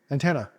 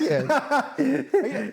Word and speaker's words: Etienne: Antenna. Antenna. It's Etienne. You're saying ETN. It is Etienne. Well, why is ETN not Antenny? Well, that's how he pronounces his name.